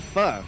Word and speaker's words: pho: Have you ever eaten pho? I mean, yeah, pho, yeah. Pho? Yeah, I guess it's pronounced pho here. Yeah. I used to pronounce it pho, and then people are like, no, it's pho.